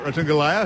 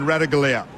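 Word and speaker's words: Ratugolea: Saba Ratungalea, who wants to be called by that pronunciation of his surname rather than Radagalea.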